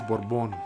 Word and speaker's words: Borbon: what's up what's up how do you say your last name it's uh originally it's borbon so bourbon thank you thank